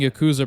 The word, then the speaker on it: Yakuza: just fought the Yakuza it feels weird hearing Yakuza pronoun like that the pronunciation was Yakuza and I get that most native English speakers say differently unless you're a cultured